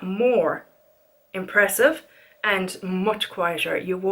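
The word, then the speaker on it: Moher: some more before and that starts pronounced more not more hair or Mahar or whatever it's because of more and they are stunning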